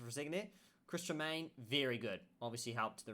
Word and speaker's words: Tremain: couldn't pronounce it for a second there. Chris Tremaine, very good.